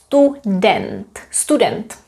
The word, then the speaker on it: student: This is student in English, but in Czech we say student, because we say u, e, student.